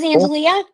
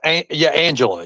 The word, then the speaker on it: Angela: That was Angelia? That's Angela. Yes, Angela. She just spells her name with the A. Oh, yeah, I keep pronouncing it Angelia.